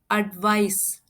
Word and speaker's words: advice: ये देखिए इसमें स साउंड आ रहा है, जैसे हम आइस को प्रोनाउंस करते हैं वैसे ही इसे भी प्रोनाउंस करेंगे एडवाइस।